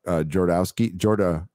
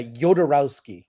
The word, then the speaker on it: Jodorowsky: And you pronounce his name right. I don't. Jodorowsky. Yeah, Jodorowsky.